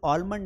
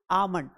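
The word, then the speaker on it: almond: इसका actual pronunciation ऑलमंड नहीं है। इसे हम पढ़ेंगे आलमंड। क्या पढ़ेंगे? आमंड।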